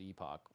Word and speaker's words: Epoch: last Epoch okay JB the word is pronounced epic normally but the dev said on Reddit that they pronounce it Epoch which sucks it makes